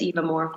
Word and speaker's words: EVAmore: What's a typical day in the life of, do you pronounce it EVAmore? Yep. It's EVAmore. Yeah.